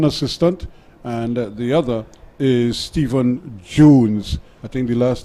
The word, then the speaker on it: Stephen: just reminding me that here in Trinidad s-t-e-p-h-e-n is still pronounced as Stephen and not that Steph as the Americans like